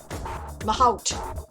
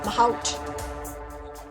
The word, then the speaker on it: mahout: Pronunciation. We have Google. It's here. Let's do it. Mahot. Mahout. Okay. Mahout.